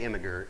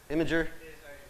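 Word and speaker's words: Imgur: So this guy, he made an air-conditioned bed for his dog, and it was on how do you say Imager? I-M-G-U-R? Imager?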